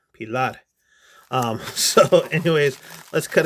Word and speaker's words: Pilar: crkt pilar three pilad you have to say it like you're speaking spanish pilar um so anyways let's